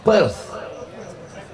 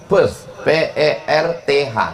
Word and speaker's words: Perth: Perth, P-E-R-T-H. TH di ujung itu cara bacanya tha, Perth.